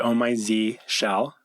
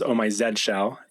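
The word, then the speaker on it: Oh My Zsh: in it these days I pronounce it on my Z shell or for our European friends or English friends omai Zed shell I've heard om my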